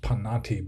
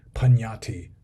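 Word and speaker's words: paññatti: he has it spelled Pannatti, which would be pronounced Pannatti, but I assume the N's should have squiggles over the top, so it would be Pannatti. What do you know about Pannatti and Bhava, which is spelled Bhava?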